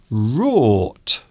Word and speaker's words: wrought: Rort. Ooh, I like this one because it has lots of interesting uses of letters there. So you can see WROUGHT. Rort.